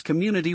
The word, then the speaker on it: community: Let's ensure we pronounce community. Well, commu and I stressing the second syllable.